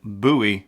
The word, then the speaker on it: Bowie: interviews it's not bowing it is pronounced buoy like Boo Halloween time buoy or like a buoy on the water that's for whatever reason